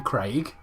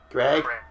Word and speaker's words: Craig: Why can't Americans say the name Craig? Craig. Craig. Like C R E G. What? What? It's not It's not Craig. Oh my god, it's Greg.